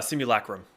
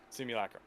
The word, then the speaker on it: simulacrum: and i don't know how to pronounce that simal chrome chrome immunochrome spell it yeah s-i-m-u-l-a-c-r-u-n uh simulacrum simulacrum thank you uh and uh so those are